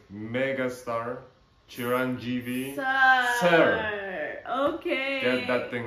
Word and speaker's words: Chiranjeevi: you have to say it right Mega star Chiron GV sir okay get that thing right and Netflix